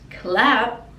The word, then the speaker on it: clap: it clap your hands clap is this action clap and then the p we don't really pronounce it we just put the lips together clap clap your hands